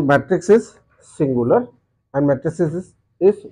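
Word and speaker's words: matrix: this mind there ज word used मैट्रिक्स एम ए टी आर आई x some people call it और pronounce ट एस मेट्रिक्स सो मैट्रिक्स इ also correct मैट्रिक्स ल्स कर okay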